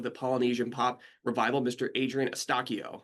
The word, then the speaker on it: Adrian Eustaquio: Adrien Estakio.